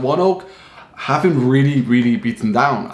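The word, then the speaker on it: ONEOK: one oak incorporated okay i did look it up that's how you pronounce it one oak and what this company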